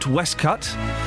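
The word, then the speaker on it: waistcoat: We've gone from pronouncing We've learned that you pronounce waste coat Westcut.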